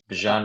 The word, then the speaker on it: Bijan: One of the I like your pronunciation. It makes it sound like French and fancy. I, Bijan Robinson. I just keep thinking about Dijon, like mustard.